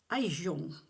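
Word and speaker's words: Gijón: After another day at sea, we arrived at a place spelled Gijon, but pronounced Gijon.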